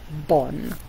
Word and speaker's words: bon: Bon means good in French. So it tells you down here how to pronounce it. It says for bonjour, say bonjour. And for bon, say bon.